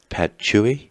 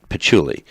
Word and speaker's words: patchouli: cedar wood essential oil how do you pronounce Pat Chui actually patchouli dark patchouli essential oil